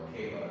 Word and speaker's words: Makeba: I'm originally from Harlem, New York, and my mother, her name is actually DaQuan Lawrence, or Makeba, as I learned to pronounce it.